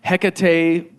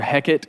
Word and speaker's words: Hecate: can tell you it's it's called um HEC that's one way to say it it's other heckit is another way to pronounce it but he's sacred